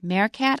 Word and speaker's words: meerkat: the other word is meerkat and that's because it comes from Dutch and in Dutch ee is pronounced a so I said meerkat I wasn't sure it